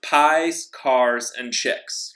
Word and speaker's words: Piekarczyk: back to the topic my last name is pronounced PI's cars and chicks right it comes up